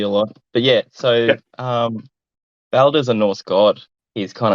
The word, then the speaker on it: Baldur: Baldur. Mm-hmm. So it's Aldo, was it? Baldur. So it's like a U and an R that's rolled together.